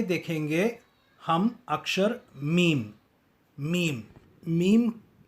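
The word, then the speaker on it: ميم: Meme उच्चारण करने के लिए अपने मुंह को बंद करके धीरे से खोलिए और कहिए मीम. अंग्रेज़ी अक्षर एम, हिंदी अक्षर म और तमिल अक्षर म की तरह ही मीम है।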